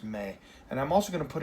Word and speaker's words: me: indirect object pronoun in Spanish as Mae it's pronounced Mae and I'm also gonna put in parentheses this